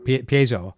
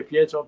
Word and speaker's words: piezo: it all the companion how do you say it Paizo or pay zero piezo I would say some people say piezo hazel eyes yes I